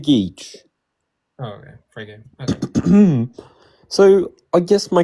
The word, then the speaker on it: Frege: How do I pronounce it? It's Frege Geach. Oh, okay. Frege.